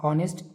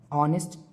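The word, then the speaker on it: honest: नेक्स्ट ऑनेस्ट एच ओ एन ई एस टी ऑनेस्ट ईमानदार। यहां पर एच साइलेंट होता है और ये ओ से प्रोनंसिएशन स्टार्ट होता है। ऑनेस्ट ईमानदार।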